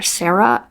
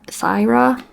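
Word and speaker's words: Saira: um the main character Sarah Cyra not sure how you pronounce it it's s a i r a i really liked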